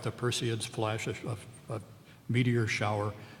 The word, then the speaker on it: Perseid: this great line bright Perseids look at them listen to the meter their bright Perseids Perseid is always a three syllable word flash and crumble so